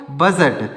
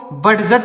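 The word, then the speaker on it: budget: हैं बजट तो इसको बड जट नहीं पढ़ेंगे यहां पर डी साइलेंट है तो इसको बड जट नहीं पढ़ेंगे बजट पढ़ेंगे अगला है ई डी जी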